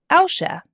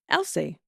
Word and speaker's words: Alsea: April 17th, 2017, in Alcia, Oregon, or Alcia, Oregon. Aisha? Aisha. How do you spell it? Alsea. Alcia. Alcia. Elsie. Elsie. Elsie. And Elsie. Oh my God. Every day's a school day.